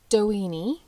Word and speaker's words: Doheny: okay so Edward L doen um I've heard it pronounced multiple ways but that's how I'm going to pronounce it because it sounds like weenie okay and I'm 5